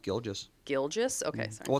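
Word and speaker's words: Gilgeous: It is It was It is interesting though because like I didn't really know much about Sheay Gilgus Alexander.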